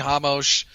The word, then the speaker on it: Ramos: Oh, Ramos. Jesus Christ. There needs to be an accent mark over the R or something indicating pronounce it like an H.